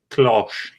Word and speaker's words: cloche: Let's see if we get a few more subscribers now that I'm wearing a cloche.